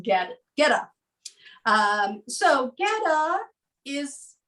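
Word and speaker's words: goetta: you're not familiar with it but it is pronounced get get up so ghetto is thought to be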